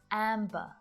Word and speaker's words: amber: Listen carefully to hear the B sound as I say these words. amber, clamber, slumber.